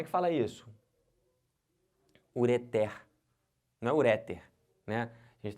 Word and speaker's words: ureter: bexiga aquele nome daquele é o que ureter e não ureter tá bom aqui como